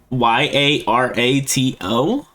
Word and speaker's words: Yarato: It's pronounced Yarato.